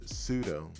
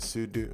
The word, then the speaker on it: sudo: we have here is called sudo and sudu or sudo Sudo however if you want to pronounce it and basically Sudo is